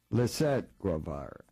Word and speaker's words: Lisett Guevara: And with us are some authors who wrote a book, Jim Gulnick, and is it pronounced Lisette Guevara? Lisette Guevara.